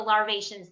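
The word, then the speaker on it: larvaceans: wrong all the time the larvae scene the larvae shion's yes the larvae shion's that's right it'll never get that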